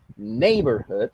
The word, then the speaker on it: neighborhood: Porque precisamente la palabra neighborhood suena más fuerte al principio. Y hay que tomar en cuenta que precisamente tiene 3 sílabas.